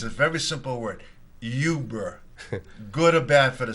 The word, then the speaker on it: Uber: go ahead uh I'm going to try to pronounce it's a very simple word Yuber good or bad for the city of Manchester